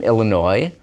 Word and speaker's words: Illinois: many words in French I'm from Illinois and that's originally a French name we just don't pronounce that S at the end because it's French and it's a CA